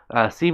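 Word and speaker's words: sí: C means yes in Spanish. Yes, Mike, that is correct. Except it's spelled S-I, and the I has an accent.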